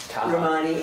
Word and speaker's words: Romani: Romani, is that how your name? Yes, ma'am. And um I'm going to open the hearing for um it ties just like it's spelled like Romani and Jenny Freriedman for